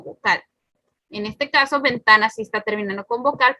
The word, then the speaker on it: ventana: Por ejemplo, ventana. ¿Y cómo sabemos que es el penúltimo? Está último, penúltimo. Y este sería antepenúltimo. Entonces, su sílaba tónica está en medio, así que sí es llana o grave.